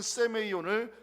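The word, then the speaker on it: σημεῖον: 자, 표징이라는 단어 히브리어로 오트라고 발음하고요, 헬라어로는 세메이온이라고 발음합니다. 구약에서는 오트를 표징으로 번역하고 있고 신약에서는 세메이온을 표적으로 번역을 합니다.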